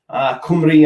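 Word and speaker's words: Cymru: all that stuff um why peacock says karam is pronounced kumari kumri um an bath damn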